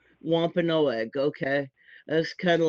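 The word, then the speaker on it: Wampanoag: And uh my preferred pronunciation is wa no egg. Wa no egg.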